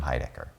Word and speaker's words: Heidecker: I learned a tip, in case you can remember this, for my own name, which was weird to have someone give me a tip on how to help people pronounce my name, but imagine I have a small chin. And I said this small chin, David, this small chin.